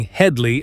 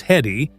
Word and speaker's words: Hedley: The recurring gag of people mispronouncing Hedley as Heddy made it even better.